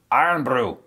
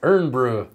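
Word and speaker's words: Irn-Bru: Iron Brew. Bruh. That's how I read it. Bruh. It's Urn Brew.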